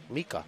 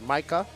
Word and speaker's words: Mika: It's actually, I asked him his name, and he said it's Mika. He said you can call him Mika, Micha, but I guess you can pronounce it Micah, but he told me it's pronounced Mika.